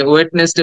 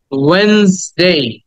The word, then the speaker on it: Wednesday: এটা আমরা ছোটবেলায় অনেক ভুল উচ্চারণ করেছি, অনেকে ওয়েডনেসডে বলেছি, অনেকে ওয়েডনেসডে বলেছি। তো উচ্চারণটা হওয়া ছিল ওয়েনসডে।